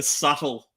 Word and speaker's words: subtle: Look, some might say that was just a subtle, which is spelt with S-U-B. With a B. Subtle with a B. Oh, man. It's a silent B.